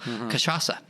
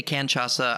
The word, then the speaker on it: cachaça: I say canchaça. I mispronounce it all the time. Please forgive me. How you say it beautifully? Cachaça. Cachaça, yes.